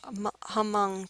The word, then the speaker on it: Hmong: and Thailand that's the Hmong people the H is silent um you got to